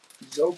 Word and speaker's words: Zoe: Zoe Panette. Zoe rhymes with go, so I was getting it right.